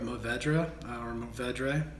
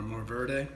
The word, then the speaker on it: Mourvèdre: So 2017 will consist of 1 acre of Tempranillo, 1 acre of Mourvèdre, or Mourvèdre. You pronounce it the way you'd like.